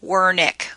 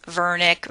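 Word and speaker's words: Wernicke: or ver Niki's area this is a German individual so the W sounds like a V I've heard it pronounced a lot of different ways were Nick were Nikki's Vernick ver Nikki's those are all saying the same thing that the patch of the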